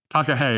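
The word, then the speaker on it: Takahē: forget all the other stuff I'm going to mispronounce. So it's just a long list of them now. But the Takahe Literary Journal. Takahe.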